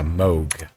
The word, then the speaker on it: Moog: In the first commercial synthesizer, it's actually pronounced with an O sound despite its spelling. It's a Moog.